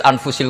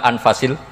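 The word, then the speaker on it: أنفس: anut bacaan saya saja di sini ditulis anfusil kutubu saya baca anfasil kutub karena maknanya kitab ter baik Kalau kitab terbaik bacanya bukan anfus tapi apa anfas ya nanti kamu debat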